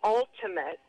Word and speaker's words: ultimate: If you say an ultimate, all right? Yeah. Ultimate. The stress is on the first syllable.